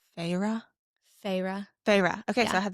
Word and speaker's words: Feyre: Although I will say I feel like Audible was very humbling for me in my pronunciation of all the characters' names. Okay, how do they say Feyre? Feyre.